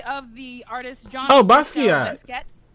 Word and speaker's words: Basquiat: Oh, Basquiat. Basquiat. It's Basquiat. It's Basquiat. Okay. It's not Basquiat, it's Basquiat. That's how most people pronounce it, is John Baptiste Basquiat. They can't speak French then.